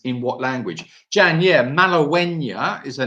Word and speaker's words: Malagueña: It's spelled Mala, Mala. Gueña is Gue with an Enya, with a little N with a squiggle on top, A. So Malagueña.